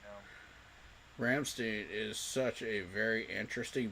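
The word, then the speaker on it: Rammstein: It's Ramstein. I can't roll my tongue like that.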